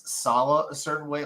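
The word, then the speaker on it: Saleh: Most people say Salah. I say Salah just because most people say it, but the correct pronunciation is Robert Salah.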